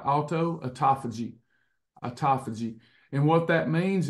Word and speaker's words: autophagy: what term I can't remember it's a it's autophagy alutto a it's a spelled like alutto autophagy autophagy and what that means is uh you're